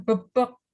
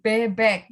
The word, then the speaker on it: bebek: namanya bebek gitu dan dibacanya bukan bobok tapi bebek gitu dan tidak ada perbedaan